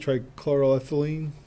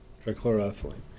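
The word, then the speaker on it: trichloroethylene: compounds and tce tri Jeff how do you say it TR chloroethylene correct TR chloroethylene not at all a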